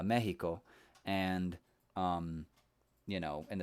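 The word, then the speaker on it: México: like i was saying mexico is actually correctly pronounced in spanish uh mexico and um you know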